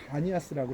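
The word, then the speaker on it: Banias: 그래서 여기가 바로 지명이 예전에는 파니아스 그랬는데 아랍 사람들이 여기를 점령하면서 피 발음이 안 나니까 여기를 바니아스라고 그래요.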